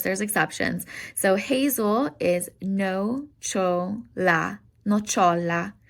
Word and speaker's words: nocciola: So hazel is nocciola, nocciola. CIA sounds like cha, nocciola.